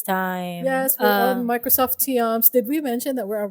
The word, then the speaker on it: Teams: yes We're on Microsoft teams Did We mention that we're are Microsoft teams Yes we're using Microsoft teams Thank you Microsoft teams mating na sila un saan man ang Microsoft tiams It's Microsoft teams This is in reference